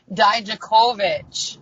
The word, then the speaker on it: Dijakovic: Dijakovic.